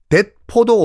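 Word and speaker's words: 鉄砲: 총포가 일본식 발음이 뎃포거든요. 뎃포. 여기서 나온 표현이 뭐냐면요. 전쟁 나갈 때 뎃포도 없이 나간다.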